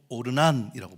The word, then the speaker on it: 오르난: 그러니까 여부스 발음으로 아라우나라고 하는데, 이게 역대상에 가면은 히브리식 발음으로 오르난이라고 번역합니다.